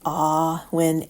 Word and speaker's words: Awen: For those reading, it's pronounced Awen, A.W.E.W.I.N. as in "Aw will always win."